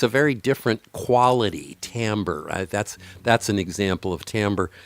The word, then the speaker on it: timbre: Timbre. Timbre, I think, is the way we actually pronounce that, even though it's spelled Yeah, timber. sorry. Yeah. We pronounce timber here, so yeah, Yeah.